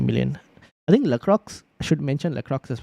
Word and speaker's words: Lacroix: Pronounce Lacroix, just for your information. Aha. I keep saying Lacroix. Keep pronouncing the X.